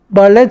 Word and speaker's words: ballet: Ballet se pronuncia al estilo francés, no ballet. No decimos ballet, se dice ballet.